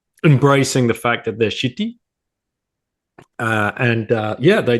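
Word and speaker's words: Ch'ti: uh I'm drinking um this is how it's pronounced shitty IPA yeah okay okay very good yeah it's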